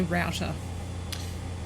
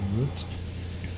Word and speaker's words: router: I'd say router. Route. It's an old tomato Yeah. Type situation. But I think that's the first time I'm like, we don't pronounce this the same way. Huh. I will catch myself saying router sometimes. But I think I would probably always say root, which makes any Irish